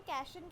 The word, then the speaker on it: cation: तो एक जो पॉजिटिवली चार्ज होता है उसको हम कैशन कह सकते हैं या फिर केशन कह सकते हो आप। अलग अलग वेज होते हैं इसको प्रोनाउंस करने के।